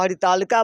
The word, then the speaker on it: हरितालिका: और इस व्रत को हरितालिका व्रत के नाम से भी जाना जाता है इसका शुद्ध उच्चारण जो है वह हरितालिका व्रत कथा भी है इसमें यह है जैसे